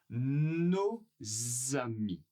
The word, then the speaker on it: nos amis: On ne prononce pas le S, mais il est là.